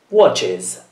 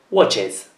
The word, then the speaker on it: watches: In questo caso, la vocale viene pronunciata e la S diventa una Z. Watches. Watches.